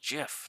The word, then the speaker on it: GIF: where as you know gif gif it's like he's like it's pronounced jiff yeah I'm gonna go